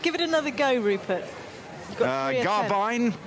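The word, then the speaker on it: Garbiñe: see I think give it another go rert garbine garbine Mota spot on that's the one okay she's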